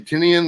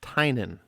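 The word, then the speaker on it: Tynion: um and that's the guy james last name tinian or i just discovered it's pronounced tynan tynan okay i should know that because he's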